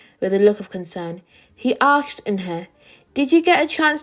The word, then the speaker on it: Eunhae: Eunhae means grace." "Grace? Grace Eunhae?" shouted Ralph. Everyone tried to say it. "Eunhae, Eunhee, Eunha."